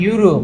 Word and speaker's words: Europe: ইউরোপ মনে আছে? ইউরোপ, এই যে ইউরোপিয়ান অথবা ইউরোপ হইতে পারে, ইউরোপ হইতে পারে, এই যে ইউরোপ হোক আর ইউরোপিয়ান হোক, ইউর মতো উচ্চারণ হচ্ছে ইউ।